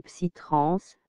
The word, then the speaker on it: psytrance: La trance psychédélique, également appelée psytrance, prononcée en anglais, psy-trance, ou simplement psy, dérivé